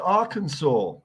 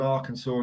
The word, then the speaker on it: Arkansas: learn why it's called Arkansas and not Arkansas because it was it was French settlers so the French settlers prettiest the Kansas people Kansas and English people pronounce them pronounce it the Kansas so that's why it's